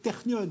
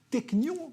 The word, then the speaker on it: Technion: d'innovation comme ce qu'on vient de voir, souvent la référence en Israël, c'est le Technion, si on le prononce avec l'intonation hébraïque. Technion, si on le prononce à la française.